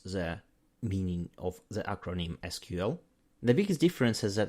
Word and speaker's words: SQL: The names for them are SQL, properly pronounced as SQL, or among some other groups SQL, and NoSQL, which is short for not only SQL.